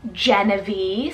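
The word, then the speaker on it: Jenavie: find really cool and it means Army Council genevee spell j-e-n-a-v-i-e Genevieve how stunning is that one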